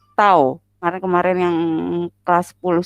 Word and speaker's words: tau: kata lainnya adalah torsi kalau disimbolkan itu bacanya adalah tahu Maret kemarin yang khas